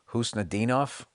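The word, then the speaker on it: Khusnutdinov: I guess wherever he's from, the K is silent.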